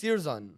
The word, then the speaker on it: Sirjan: That's like, no, it's pronounced Sirjan.